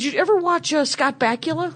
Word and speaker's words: Bakula: ever watch a Scott Bakula whose name rhymes with Dracula butt crack EULA oh